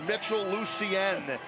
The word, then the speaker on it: Mitchell Lucien: This is Mitchell Lucien, is the correct pronunciation of this young man's last name, from Union, New Jersey, 5'11", 234 pounds.